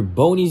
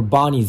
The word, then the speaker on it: Boney's: Either Boney's Birdhouse or Bonnie's Birdhouse. But I think it's pronounced Boney's Birdhouse.